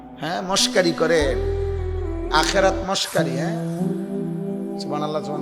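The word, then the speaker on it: سبحان الله: হা গোল হা যেটারে ছোট হা এটা পূর্ণ উচ্চারণ হইতে হবে। আপনি দি কন সুবহানাল্লাহ সুবহানাল্লাহ সুবহানাল্লাহ। সুবহানাল্লাহ তো কোন শব্দ না। শব্দ তো এটা না। শব্দ তো হইলো সুবহানাল্লাহ।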